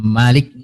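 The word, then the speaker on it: مالك: Adam Malikiyaumiddin ya Malikiyaumiddin kata Malik itu ada dua cara membacanya ada Malikiyaumiddin ada Malikiyaumiddin minimnya panjang dan pendek itu maknanya berbeda kalau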